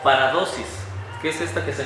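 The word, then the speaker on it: παράδοσις: En el texto griego, familia, utiliza una palabra que se pronuncia paradosis.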